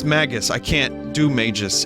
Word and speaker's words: Magus: In my head, it was always Magus since I was a kid. Rhymes with maggots. It's Magus.